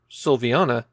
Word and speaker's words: Sylviana: We can be pretty confident how it should be pronounced, Sylviana, but is that first vowel an I or a Y?